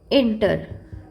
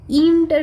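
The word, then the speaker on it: enter: एंटर, हम इंटर नहीं कहते, एंटर, ओके, इंटर नहीं कह रहे हैं, एंटर कह रहे हैं, तो स्वर किसका आ रहा है, ए का स्वर आ रहा है।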